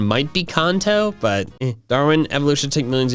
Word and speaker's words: Kanto: I think the official pronunciation might be Kanto, but Darwin, evolution take millions of years, Pikachu evolving after being handed a shiny yellow stone.